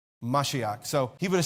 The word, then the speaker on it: Mashiach: But if he had spoken Hebrew, it's Mashiach is how you say Messiah in Hebrew. Mashiach.